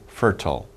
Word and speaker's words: fertile: manure it is very fertile or fertile some people pronounce it different ways fertile so not useless